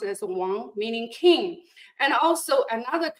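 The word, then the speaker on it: 王: In Chinese, it's pronounced as Wang, meaning king, and also another character meaning pronounced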